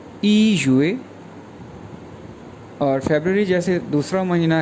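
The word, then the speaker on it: 月: Month को Chinese में कहते हैं युए, YUE फोरटोन के साथ, तो ये प्रोनाउंस करेंगे युए युए युए जी।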